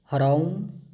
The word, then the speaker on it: ह्रौं: आगच्छ आगच्छ ह्रौं स्वाहा जो मु जो उच्चारण करछि ओम पर सेटा होछि ह्रौं एच आर ए यू एम ह्रौं म कार उच्चारण हम लास्ट को शेष